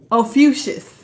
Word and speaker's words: Ophiuchus: I always forget how to pronounce it. I gotta open it up. I got it on my phone. Ophiuchus.